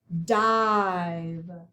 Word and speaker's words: dive: and the last one dive v e at the end is a quiet e and it's a long i sound okay guys we are